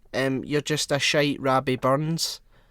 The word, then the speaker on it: Robbie Burns: you're just a shy robbie burns scottish people pronounce it is rabbi burns um okay and i'm